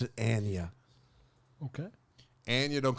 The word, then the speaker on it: Anya: She's Anya, is how she pronounced it. Anya.